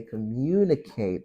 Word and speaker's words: communicate: So when you want to say communicate now, the stress is on mu.